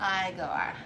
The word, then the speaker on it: Igor: oh you must be eager right now it's pronounced igor dr frankenschmein i assumed